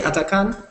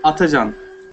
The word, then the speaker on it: Atakan: Did I pronounce it correctly, Atakan? Actually, in Turkey, Atacan. Atacan. Oh, that's right. The C is more like a Z sound in Turkish.